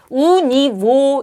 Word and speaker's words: у него: 그렇지만 러시아인들은 이게 모음이 두 개가 겹치면은 발음하기가 어려워요. 그래서 뭘 쓴다? 예. 여기다 N을 써 줘요. 예. 자음을 넣어 주는 거죠. 의도적으로. 그래서 우니오 이렇게 돼요.